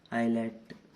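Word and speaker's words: islet: ऐसे ही आईलेट, इसमें भी एस का कोई साउंड नहीं आ रहा है, ठीक है।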